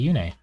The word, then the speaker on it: Yune: Oh, when I was watching Engage, she calls Yune Yoon, and it triggered me so hard. Because there's voice lines in this game. You hear her say Yune. And then they change the pronunciation to Yoon, because Makai would not mispronounce her.